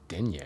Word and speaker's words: Denya: It sounds like it'd be Denya, but it's denye.